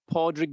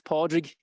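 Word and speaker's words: Pádraig: um my name is podrick i'm the director general of the cso in ireland my name can be hard for people to pronounce podrig is the gaelic word for patrick so if you prefer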